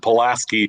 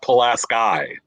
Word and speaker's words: Pulaski: village we called it Pulaski. Apparently, Stephanie has told, was it Stephanie? Somebody on YouTube informed us that it is pronounced Pulaski, New York.